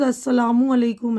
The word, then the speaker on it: السلام علیکم: پیاری امی۔ تو دیکھیے، میم کے اوپر پیش ہے تو السلام، صحیح تلفظ السلام علیکم ہے۔ وعلیکم السلام۔ اب اسکول سے آتے ہی کس چیز کی مانگ؟